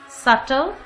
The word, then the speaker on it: subtle: Subtle, B is not pronounced here. B is silent.